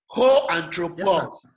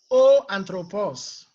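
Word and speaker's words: ὁ ἄνθρωπος: So I'm going to pronounce the article and the noun together. So read after me. Ho anthropos. O anthropos.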